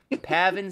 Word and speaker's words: Pavin: But much better, Pavin Smith? What the fuck is that? I'm assuming I'm pronouncing it right. It's literally just Gavin with a P. Pavin Smith.